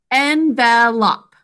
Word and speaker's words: envelop: Envelop. 3 syllables. In the first syllable, our sounds are n. 2 sounds. It's not I, it's envelop.